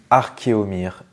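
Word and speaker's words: Archéomire: dit archeéomir ou archéomir et bien on dit archéomir et oui archéomir parce que c'est archéologue plus un miroir voilà archéomir archéologue tout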